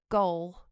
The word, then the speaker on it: gaol: in kremlin road gaol how do you say it the irish place goal g-a-o-l in belfast yeah that's